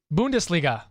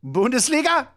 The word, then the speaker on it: Bundesliga: do it yeah how do you say it Bundesliga Bundesliga throw a dart at the paper that's that's